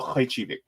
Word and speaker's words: Khrachvik: hello and salutations to Midwestern Marx's own Noah Khrachvik.